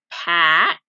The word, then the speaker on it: packed: Packed ends in ed. Packed. Another T sound.